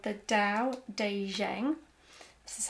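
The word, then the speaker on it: Tao Te Ching: book section is this book it's called the Dao de Jang this is how it's pronounced it's by by by LSU who is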